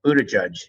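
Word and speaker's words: Buttigieg: this uh young mayor Buddha judge as you told me his name is pronounced he was the mayor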